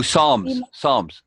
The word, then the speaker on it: Psalms: Oh, Psalms. Yeah. Yeah. The P is Psalms in the silent.